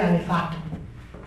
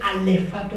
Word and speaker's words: alefato: creó el alfabeto hebreo que se dice alefato no se dice alfabeto se dice alefato hebreo antes de crear todo